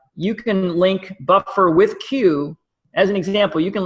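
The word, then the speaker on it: Quuu: And then there's another company called Q, which is spelled Q-U-U-U, and they're an aggregator of online articles.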